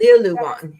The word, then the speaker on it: Liulan: Liulan.